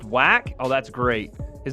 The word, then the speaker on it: Wach: It's pronounced whack. Oh, that's great. His name is Marius Whack.